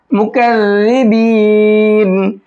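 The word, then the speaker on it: مكذبين: और जाल का साउंड जो होता है वो सॉफ्ट होता है, और इसमें सीटी नहीं होती है। जाल जाल, ठीक है। तो यहाँ जाल का प्रोनाउंसिएशन होना है, मुकज़्ज़िबीन।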